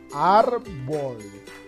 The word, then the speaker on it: árbol: Le ponemos la tilde en la sílaba, en la vocal A, que corresponde a la sílaba AR. Árbol.